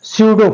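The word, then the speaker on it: pseudo: ये पी लिखा है लेकिन पी साइलेंट है। स्यूडो फोर्स, ये फोर्स के नाम से जाना जाएगा ये, ठीक है।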